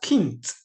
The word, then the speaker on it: Kind: spelled kind okay so it's only spelled kind but it's not pronounced as kind it is pronounced as kint i skip kint he's